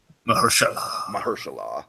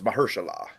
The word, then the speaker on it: Mahershala: Mahershala, by the way, Dragon, that's how you pronounce it. Mahershala. We've been pronouncing it wrong for like. Wait, so it's not Mahershala? It's Mahershala.